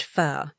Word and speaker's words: pho: The waiter smiles and says it's pronounced pho.